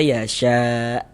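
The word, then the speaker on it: يشاء: May yasya ini ketika kita berwakaf berhenti di huruf hamzah kita baca yasya. Jangan dibaca yasyau baru berwakaf. Yasyau baru berhenti gitu. Jangan salah.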